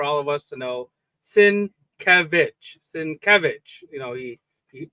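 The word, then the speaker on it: Sienkiewicz: Sinkevich. Sinc, you know, he he the the accent is on the middle uh syllable there.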